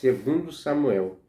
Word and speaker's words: 2 Samuel: Muitas das vezes nós vemos a pronúncia de alguns pregadores de falando segunda a Samuel, mas é 2 Samuel, porque é em concordância com o livro.